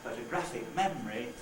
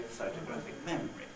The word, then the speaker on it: photographic memory: And instead of saying photographic memory, we say photographic memory.